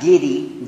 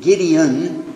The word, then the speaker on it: Gideon: it's put there by the Gideon Society not gidy Gideon this is somebody mentioned